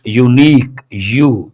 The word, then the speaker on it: unique: How do you pronounce this? Unique, ya sound. That is a consonantal sound.